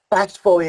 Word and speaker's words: Ash Foley: all Co can can you pronounce it again aany aany oh Ash Foy Ash Foley exactly how it looks right yeah aesthetic and